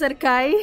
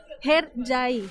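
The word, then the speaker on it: Hercai: Para nosotros Erkay, eso no se pronuncia así en turco se pronuncia Herjai.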